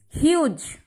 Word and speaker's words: Hughes: Be careful, the pronunciation of Hughes, it is huge.